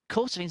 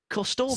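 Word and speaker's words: Corstorphine: back of names, Charlie informed me last week that Corsovin's not actually the proper way of pronouncing his last name. Oh, don't tell me that. What is it? Corstorfin. 60. Because it's Scottish.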